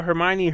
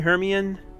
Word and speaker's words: Hermione: I was mispronouncing everything remember back then when we used to call Hermione heran or Herm one I remember like that